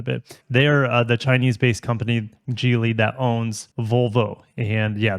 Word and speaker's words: Geely: It is owned by Geely or Geely.